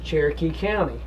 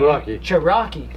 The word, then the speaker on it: Cherokee County: run around here but he was mispronouncing cherokee county he was actually saying rocky character and after a while